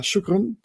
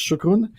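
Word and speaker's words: شكرا: I try to say thank you in Arabic, Standard Arabic, and I've been learning it from my colleagues, so I think it's shukran.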